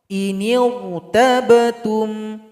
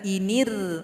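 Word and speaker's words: إن ارتبتم: Cara baca sama, huruf ra-nya dibaca tebal. Contoh, inirtabtum, inirtabtum, jangan inir. Nah, kalau bibir bawahnya masih tetap inir, itu bacanya kurang tepat. Jadi angkat sedikit ke atas. Inirtabtum, huruf ra-nya tebal.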